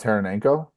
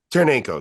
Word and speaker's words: Taranenko: Dmitri kov tonosi is is that how you pronounce his name talking about taranenko taranenko yeah yeah is Alexi tereno or